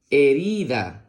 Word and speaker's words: herida: la siguiente palabra dice la H con la e suena e la r con la i suena ri la d con la a suena da e ri da herida muy bien la siguiente